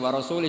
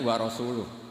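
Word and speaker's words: وَرَسُولُهُ: Wa rasulih juga gak ngurus Rasulnya. Kalau sama Rasul saja tidak ngurus, apalagi sama kita. Sama Sayyidina Ali dibenarkan yang benar bacanya itu wa rasuluh.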